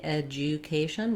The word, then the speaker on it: education: board um and then so this d u actually has more of a j sound um now in some dictionaries you may see education with a clear ooh vowel i think um often americans will say this more as education education so you can either do an edge edge you edu or edge yeah eja education so that yeah sound um really comes from the ja ja education education education um